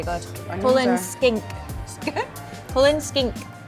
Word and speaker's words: Cullen skink: Cullen skink. That's how you say it.